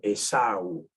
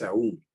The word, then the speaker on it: Esaú: que debería corregirlo ahora ese nombre se dice Esaú no es aún y se escribe así